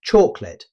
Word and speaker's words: chocolate: Rather than pronouncing all three syllables clearly, most native speakers say chocolate, dropping the middle vowel sound to make the word flow more smoothly.